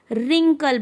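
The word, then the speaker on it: wrinkle: है वह होता है लेकिन हम यहां पर ब्रिंग नहीं बोलेंगे हम रिंकल बोलेंगे क्योंकि यहां पर क्यों क्या हो गया साइलेंट हो गया कुछ वर्ड साइलेंट होते हैं जिनसे उसकी ध्वनि नहीं पता चलती लेकिन उनकी सहायता से हम बोलते हैं जैसे पूरे कल नहीं बोलेंगे हम बोलेंगे रिंकल तो यहां पर डब्लू साइलेंट हो गया रीगल और यहां पर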